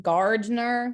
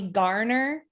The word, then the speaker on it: Gardner: and my whole life i went from gardner with a d and everybody called me garner oh and now i'm